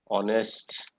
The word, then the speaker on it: honest: Words like union, one, honest. So it's the sound that matters, not the letter. In honest, H is silent, O is the vowel, so an honest man, not a honest man.